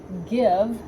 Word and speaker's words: give: out there just like the word give that has that GI but it actually makes a g sound like just like we